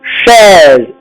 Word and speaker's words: chaise: On avait vu chaise, AI est ouvert parce qu'il est situé dans la syllabe forte.